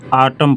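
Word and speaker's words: autumn: द आटम Satan आटम इसको आटम पढ़ते हैं आटम नहीं पढ़ते यन साइलेंट होता है तो आटम सेटन तो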